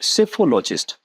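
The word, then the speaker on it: psephology: चलिए अगले पे आएंगे, सेफोलॉजिस्ट। सेफोलॉजिस्ट क्या करता है? जैसे हमारे यहाँ जब भी इलेक्शन होते हैं, चलिए आपको जाने नहीं कहा महाराज, आप यही रहें। चलिए, सेफोलॉजी। सेफोलॉजी में पीएससी, पी साइलेंट है सबसे पहले, तो स्पेलिंग पे ध्यान रखेंगे।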